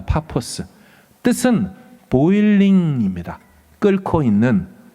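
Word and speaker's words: Paphos: 어떻게 이름을 바보라고 졌을까요 사실은 원래 발음은 파스입니다 파포스 뜻은 보일링 있니다 끌고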